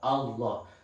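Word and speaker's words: الله: cara membacanya yaitu dengan kalau tafkhim itu Allahnya berubah menjadi huruf o Allah paguru llah Rosulullah nah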